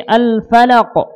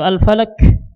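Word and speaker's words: الفلق: Al-falaq. Jangan al-falaq, ya. Baik, jangan al-falaq atau al-falak, kesalahan ya. Tapi al-falaq. Perlu kita tahu bahwasanya qalqalah tersebut itu terbagi 2 cara membacanya.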